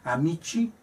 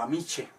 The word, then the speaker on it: amici: La C, cuando va seguida de E o de I, pues se pronuncia como che. En latín decimos amici o amiche.